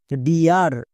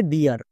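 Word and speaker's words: dear: যদি আর থাকে তখন ই এ এর জন্য ইয়া সাউন্ড হবে যেমন দেখো ডি আর এই শব্দটার সঠিক উচ্চারণ হবে ডিয়ার বাট অনেকেই উচ্চারণ করছো ডে আর তাই ভুল হচ্ছে কেন কারণ এখানে দেখো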